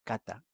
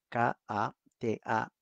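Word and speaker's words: κατά: Ahora, la palabra según, o como dice acá, mediante, es una palabra en hebreo, en griego, que se pronuncia kata, K-A-T-A, kata.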